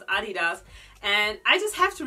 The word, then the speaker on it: adidas: the way you pronounce adidas and i just have to repeat myself that this is honestly how you pronounce adidas you don't say adidas anyway i have a